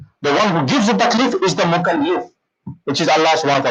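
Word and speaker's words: مكلِّف: and he is the mukallif. Remember these pronunciations very, very carefully. Mukallaf and mukallif. The people who understand Arabic, one vowel here and there makes a mistake. Totally different word.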